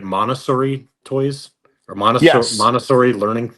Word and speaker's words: Montessori: Montessori toys or Yes, Montessori learning aids? Montessori learning aids.